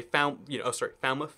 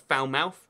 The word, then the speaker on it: Falmouth: You might say Falmouth right there, not Falmouth, because, why not?